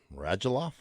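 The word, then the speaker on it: Radulov: sagan ben rajaloff line rajaloff i i assume i'm pronouncing it right i'm going by what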